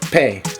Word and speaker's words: pe: Alright, that's how you say in English, but in Spanish it's pe. Pe.